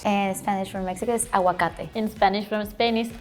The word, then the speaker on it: aguacate: Aguacate. Aguacate. Oh, maybe it's just me. No, I think hers may be softer. You don't pronounce the G sound.